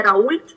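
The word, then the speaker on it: Raoult: В частности, есть такой профессор Дидье Раульт, или Рауль, по-разному произносит его фамилию.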